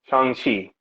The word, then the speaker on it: Shang-Chi: Is it it's like Shang, but the G is almost silent. okay, So it's like Shang-Chi.